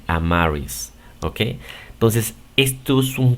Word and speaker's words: Amaris: Am, are, recuerda que la E no se pronuncia, por eso es que solamente se dice are y después is. Si dices esto rápido, am, are, is, vas a resultar con este nombre, Amaris, ¿ok?